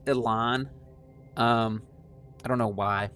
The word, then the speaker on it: Élan: the history a little bit here so it's pronounced Elan um I don't know why and I don't